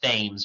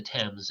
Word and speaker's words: Thames: first line the Thames it looks like it's pronounced Thames but it's actually the Thames it's a river uh in London uh and